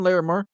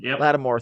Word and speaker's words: Lattimore: right I think either my shot Marshawn Marshawn Larimer didn't pronounce his name right Mark Lattimore Latimore thank you I was like I knew I